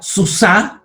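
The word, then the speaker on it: סוּסָה: El punto mapik va solamente en la G final.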